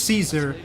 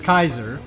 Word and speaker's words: Caesar: But the hard sea way is of course why Caesar as is it is often pronounced in English Caesar is Kaiser. That would be how it would have been pronounced.